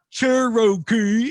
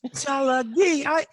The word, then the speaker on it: Tsalagi: And yet he'll allow the name of the entire tribe to be Cherokee, which is a mispronunciation of the Cherokee language, Tsalagi. It's not Cherokee, it's Tsalagi.